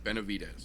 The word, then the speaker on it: Benavidez: he's blue going against joseph vanassa vit is Benavidez you can just call him mr.